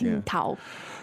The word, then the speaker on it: 青岛: So to get the pronunciation right, if you want to sound very cool and you're at your restaurant somewhere, in Washington or somewhere, and you've been saying Tsingtao, no, you can change it and say 青岛， Qingdao.